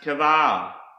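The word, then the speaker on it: קָבַר: Another Hebrew word that starts with the letter Qoph is pronounced kavar, and this means to bury.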